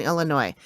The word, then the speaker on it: Illinois: states of Iowa and Illinois, Davenport and Bettenforth, and southeastern Iowa, and Rock Island, Moline, and East Moline in northwestern Illinois.